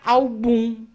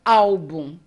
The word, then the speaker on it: álbum: quando não a paroxítonas eu tenho que trazer o acento pra sílaba anterior senão eu leria album se eu não conheço a palavra então álbum Liria órfão órfão tenho